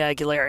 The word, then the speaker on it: Aguilera: oh my wife said do you know christina aguilera like of course i know christina aguilera and she's like just say it like that number 53 christina aguilera